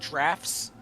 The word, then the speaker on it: Draughts: Dujak's Draughts. Yep. Thank you. Isn't it pronounced drafts?